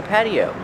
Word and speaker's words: patio: this is an outdoor patio pronunciation patio the tea is pronounced with a fast D Patty patio this is